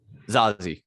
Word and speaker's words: Zazie: Zazie.